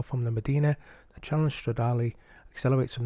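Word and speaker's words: Stradale: one is racing with the Ferrari 360 challenge stradali that's how you pronounce it I'll just give you some information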